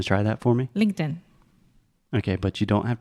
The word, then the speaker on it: LinkedIn: is the same so sometimes we use a TR te and say linked in most of the time we say LinkedIn okay does that make